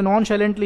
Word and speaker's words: nonchalantly: नॉन शैलेंटली इसको पढ़ते हैं, नॉन CHALANTLY। CH को यहाँ पर प्रोनाउंसिएशन शाह है, तो इस वर्ड का जो सही प्रोनाउंसिएशन है वो है नॉन शैलेंटली।